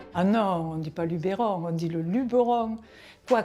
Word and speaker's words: Luberon: les étrangers ah ici on est surtout pas le Luberon on est c'est le Luberon on met pas d'accent et on le prononce naturellement on est dans le